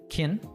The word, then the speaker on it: can: in school right but he reduces can to Kin this is something that